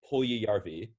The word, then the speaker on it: Puljujärvi: It's Jesse Puljujärvi. Finnish names are really tricky because the letters don't make the sounds you expect them to.